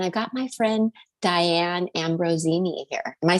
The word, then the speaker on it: Ambrosini: And I've got my friend Diane Ambrosini here. Am I saying it right, Diane? Is it the S like a Z kind of?